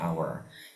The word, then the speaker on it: hour: Kalau tulisannya memang konsonan tapi cara bacanya hour. Yang dihitung adalah cara baca ya, bukan tulisan. Maka dari itu yang benar pakai an hour.